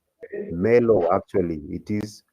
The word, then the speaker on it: Merlot: Let's go into the fourth grape, which is called Malot. Let's see the pronunciation. Merlot, actually, it is Merlot. There is a R there, so Merlot.